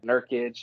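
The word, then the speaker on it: Nurkić: nerd how do you say the nurses yeah nurkic and uh they just got another uh four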